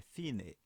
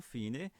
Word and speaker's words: fine: Fine não é em inglês, lembramos, né? Que é em italiano, né? Então precisamos falar ela em italiano, é fine, né? Então fine, já pela própria pronúncia,